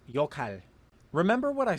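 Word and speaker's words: 역할: It is originally pronounced yokhal, but with this rule, the word is pronounced yokhal.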